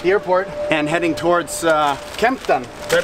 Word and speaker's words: Kempten: So yeah, we are now in Munich at the airport and heading towards Kempten. Did I pronounce that correctly?